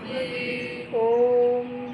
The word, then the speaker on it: ओम: ओम बोलते हुए अ का उच्चारण कम। उ का उच्चारण कम म का उच्चारण ज्यादा लंबा करेंगे तुरंत होठ को बंद कर लेंगे ओम बोल के ठीक है और फिर